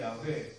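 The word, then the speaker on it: 야훼: 한참대 언어 이제 언어이고 본래 히브리어 발음에 가깝게 추적해 들어가면 야라고 해야 올습니다 어 야라는 발음을 한안 유대인들이 이어 잊어버린 바람에 나중에 모음 체계를 새롭게 구성해 내면서 아도나이 아는 주 주님이란 뜻에 모음만 야회 갖다 붙여서 여호와라고 나중에 만들어졌지만 실제로는 이제 야회 또는 야 야외라고 바야 많지요 무튼 유대인들의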